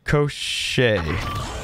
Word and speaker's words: Koschei: you for the Dono it's Russian pronounced it crochet and it means the immortal of the death post okay we'll call it crochet then but thank you